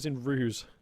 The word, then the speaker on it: RUSE: So, and in fact, it was in Ruse.